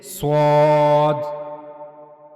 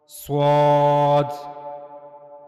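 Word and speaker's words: صاد: So while reading this letter you have to make a bold voice. So this is swad swad. Now how to pronounce swads? This is similar to the scene. The origin of swad is the same as seen and that is the tip of the tongue near the inner plates of the upper central incizes.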